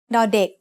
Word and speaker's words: ด: As the initial consonant of a syllable, ดอเด็ก makes the sound d just like the letter D in diamond.